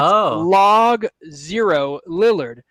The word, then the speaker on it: Logo Lillard: Well, it's spelled Logo Lillard, but it's Log 0 Lillard.